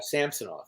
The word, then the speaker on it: Samsonov: I've heard rumors that Toronto was going to be all over Samsonov. Is that how you pronounce his name?